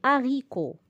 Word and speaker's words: haricots: L'haricot. Au pluriel, je dis les haricots. Alors là, on fait bien attention. Nous sommes en présence d'un H aspiré. Donc, pas de liaison.